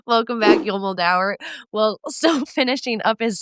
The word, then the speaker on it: Yul Moldauer: It's Yul Moldauer, but you're fine. I'm from all over, and it just really makes pronouncing things hard, apparently.